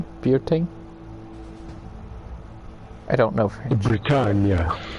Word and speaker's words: Bretagne: Bretagne. Bretagne. Yeah. Yeah, let's just say like rhymes with lasagna.